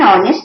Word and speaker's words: honest: but you will also say I am an honest man where which is silent so please remember this point of uncie